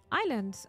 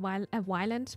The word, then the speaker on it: Ylands: that's uh that's basically Island I am sorry that I was pronouncing the the game wrong at the beginning I thought it it's called Wildland but it's actually called Island well that's it with